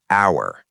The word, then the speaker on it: hour: Look at this word hour, h o u r.